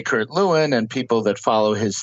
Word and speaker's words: Lewin: Well, actually, if you were in Germany, you might have said Levine.